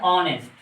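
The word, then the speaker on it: honest: ये है ऑनेस्ट। बज़ाहिर तो यहाँ पर एच दिख रहा है, लेकिन एच का साउंड हम नहीं निकालेंगे, इसको हम ऑनेस्ट पढ़ते हैं। यहाँ पर ये ओ की साउंड निकल रही है, एच की आवाज़ नहीं निकल रही है।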